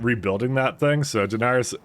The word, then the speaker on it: Daenerys: rebuilding that thing so Daenerys uh is not pronounced like denier I know but you